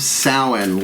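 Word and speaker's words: Samhain: in service as of Salin look it up s-a-m-h-a-i-n I know it don't sound how it looks like it's spelled uh uh I am the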